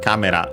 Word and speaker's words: カメラ: Camera, yeah, on the first syllable as expected, also should be for check. And it is.